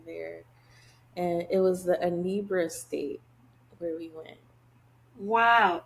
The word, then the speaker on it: Anambra: I helped with open heart surgeries over there, and it was the Anambra state where we went. Wow. Did you say which state? I think if you pronounce it Anambra, Is it Anambra?